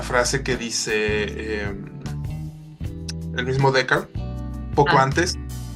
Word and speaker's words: Deckard: pronuncia? Deckard. Deckard. Descartes. Deckard. Sí, Deckard.